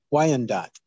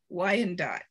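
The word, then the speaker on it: Wyandotte: just didn't pronounce it how do you say it because why and dot why and dot okay i've been saying it wrong no wonder they didn't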